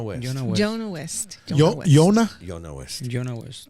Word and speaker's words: Yona: Yona? Jonah West. Jonah West. How would you spell Yona? How do you spell it?